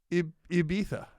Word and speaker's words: Ibiza: like you don't but he's pronouncing the i like in in american but it's you got to pronounce the i like in spanish which is ibiza there it is ibiza